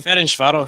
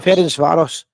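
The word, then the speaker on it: Ferencváros: How do you pronounce that one? Ference Varos. Ference Varos.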